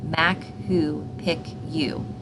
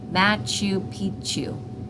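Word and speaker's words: Machu Picchu: I said something like ma who pck you bad moose she said matchu Pichu I thought she was nuts until my mom informed me that is how it is pronounced my mother went straight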